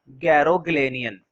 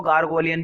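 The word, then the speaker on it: Garoghlanian: ठीक है, देखो वैसे इसको जैसे मर्जी प्रोनाउंसिएट करो, लेकिन अगर गूगल पे सर्च करते हो तो गैरोग्लेनियन निकल कर आता है। कुछ लोग इसको गार्गोलियन भी पढ़ते हैं, वो मेरे हिसाब से ठीक नहीं है, गार्गोलियन फैमिली, गार्गोलियन नहीं।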